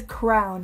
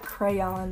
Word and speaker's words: crayon: Another unpopular opinion is that it is pronounced caramel, not caramel, and crown, like the writing things, is crown, not crayon. Like, I know it's spelled like crayon, but like, it's also spelled like caramel.